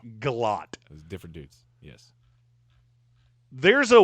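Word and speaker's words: Gillotte: I thought it was Guiote for the longest time, but apparently he is not related to Don Kiote. It's Galot.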